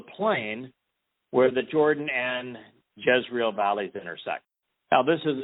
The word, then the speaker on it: Jezreel: Now, it is in Yisrael, or Yisra'el. It's spelled very similarly to Yisrael, but it's Yzrael, Jezreel, that we witness Deborah.